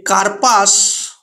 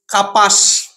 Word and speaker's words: কার্পাস: সময় আমরা উচ্চারণ করি কাপাস, কার্পাস তুলো থেকে আমরা বলে থাকি, অনেকেই আমরা বলি কাপাস তুলো। এই যে কার্পাস শব্দটা, এই যে রেফ র এখানে কিন্তু লুপ্ত হয়েছে।